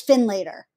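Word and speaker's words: Finlater: So I'm wondering, Amanda, do you say Finn Later or Finn Lauder? You know, it's funny. I had trouble figuring out how to pronounce it. But it's Finn Later.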